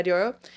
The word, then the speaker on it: Diplo: Diplo? Yeah, Diplo.